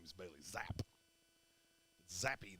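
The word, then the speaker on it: Zappe: name is Bailey zap zappy there should be a y on the end oh and New England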